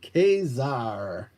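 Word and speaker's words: Ka-Zar: she-devil number one beautiful kaizar i pronounce the strong a kazaar i like it sounds like a pirate when you say it that way too kazaar so um i'm gonna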